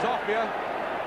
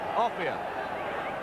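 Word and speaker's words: Offiah: His real name is Offia. He doesn't care what you call him. We'll probably give him the name his mum and dad did, Offia.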